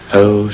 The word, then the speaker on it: ocean: to have 10 syllables we have to make ocean three syllables and surely we're glad